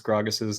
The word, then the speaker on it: Gragas: He would be maligned if I were to pronounce Gragas's name in that way, as he likes to call him Gargus.